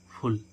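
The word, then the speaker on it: full: एफ U double A फल तो है क्या है कॉन्सोनेंट और क्या अब इसको हम क्या कर इसका उच्चारण क्या आ रहा है उ तो इसको क्या पढ़ेंगे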